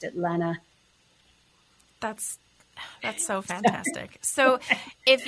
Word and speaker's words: Lena: It looks like Lena, but my family's always pronounced it Lena.